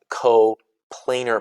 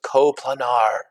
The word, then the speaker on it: coplanar: that, we've also got coplanar points. My favorite mispronunciation of this one ever was coplanar. They're coplanar, Mr. Calbeck. They're not coplanar. They're coplanar because we say the word plane.